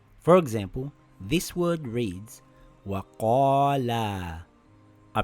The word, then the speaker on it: وَقَالَا: For example, this word reads Waqaalaa. I pronounce the long vowel as normal.